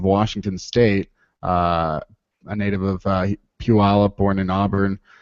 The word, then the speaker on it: Puyallup: Well, I've seen the sort of the is it Puyallup? Is that how you say it? It's like do the Puyallup. Puyallup, yeah.